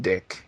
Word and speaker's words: DIC: If you spell it like DIC, there was an animation company actually called Dick.